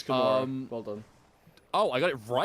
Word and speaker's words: Kimura: I got that name wrong, but that's Yes, okay. It's Kimura.